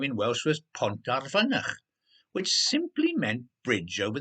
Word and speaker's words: Pont ar Fynach: Probably because they're a bit silly and couldn't say Pont ar Fynach, Olivia Bolivia said, saying it very well, pronouncing the F like a V and the Y like a U.